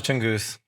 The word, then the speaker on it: Tunguz: Tongus. Tongu. Am I Am I close? Say it again. You're close. Tongus.